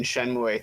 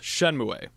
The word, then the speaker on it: Shenmue: something the other day uh it is not pronounced shenmue it's actually pronounced shenmue that's kind of gross i know like i